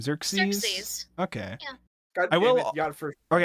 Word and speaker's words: Xerxes: Xerxes.